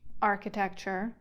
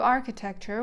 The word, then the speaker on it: architecture: oldest of architectural devices Arch architecture Frederick pronounces the CH precisely as in Arch the very word will